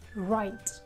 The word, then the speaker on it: write: My students often pronounce letter W again. They will say right, and indeed it is wrong. You should say r, right. Don't pronounce W, it's right.